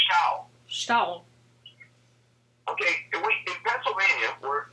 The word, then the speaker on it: Stull: That's why I trip on your name, is I want to say Stuhl. I don't want to say sta. No, actually, it's where I'm from, it rhymes with owl.